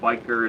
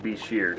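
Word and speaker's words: bichir: Senegal Beach here so that is the appropriate pronunciation it's not biker it's not buy sure it's beshear so if you guys were ever wondering over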